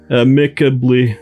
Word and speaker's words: amicably: Did you say amicably? Amicably. It's amicably. Oh, I knew I said it wrong.